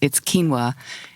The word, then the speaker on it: quinoa: Why is quinoa pronounced quinoa? Oh my goodness, that comes up all the time at tastings. Yes, it's quinoa.